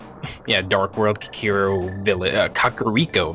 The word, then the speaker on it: Kakariko: dark world kikiro villa kakariko village as it's pronounced oh really i thought it was carico yeah me too i